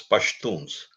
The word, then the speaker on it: Pashtuns: Pakhtuns also, they call them Pakhtuns. Some people pronounce themselves as Pashtuns. So Pashtuns or Pakhtuns are the same thing.